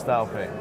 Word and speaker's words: Daopay: Did I pronounce that right? Yes, correct. And it's Daopay, correct? Yes, it's Daopay.